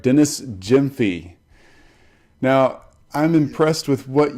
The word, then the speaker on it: Gyamfi: good to talk to you so tell me pronounce your last name for me so I get this right Jim fee great awesome I want to make sure I say it right Dennis Jim fee now I'm impressed with what you've got going